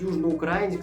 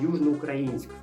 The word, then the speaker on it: Южноукраїнськ: Кропивницький скільки букв мають неправильно наголос ставлять кажуть Южноукраїнськ замість Южноукраїнськ може нам всю країну